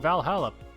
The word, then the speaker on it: VA-11 Hall-A: a blog about us the name sounds silly and a bit hard to pronounce good singing it's actually called Valhalla the funny numbers and letters are just the code anyway I visited the